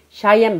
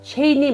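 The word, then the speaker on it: Cheyenne: 예를 들어서 미우주근이 있는 CH로 시작하는 샤이앤 마운틴을 체인이니 마운틴이라고 하지 않고 샤이앤 마운틴이라고 합니다.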